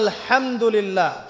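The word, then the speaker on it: الحمد لله: আপনি পড়ছেন আল্লাহু আকবার, আলহামদুলিল্লাহি রাব্বিল আলামিন, এই তো আপনি পড়ছেন আলহামদুলিল্লাহ।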